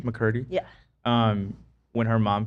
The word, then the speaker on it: McCurdy: And there other things like Jeanette McCarthy, is that how you pronounce her name? McCurdy.